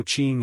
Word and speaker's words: Qing: Also Q is pronounced like ch, so Qing in Yi Qing Han is Qing. Once again, it's not written as ch because ch is a different pronunciation, e.g.